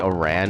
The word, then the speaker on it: Aran: I think it's technically Aran is how you say her last name, but I've always just pronounced it like Aaron.